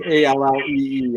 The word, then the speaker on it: Ali: So it's Mark Ali. It's Allee.